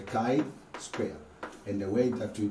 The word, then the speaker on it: chi-square: chi-square say with me the chi-square not g Square this is called the or pronounced at the kai square and the way that